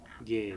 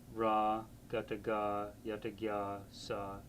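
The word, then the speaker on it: རྒྱས: So rg g y a s gay son not ra gaga yaga sa gay transliteration has been the way that scholars throughout the world communicate with each other by email.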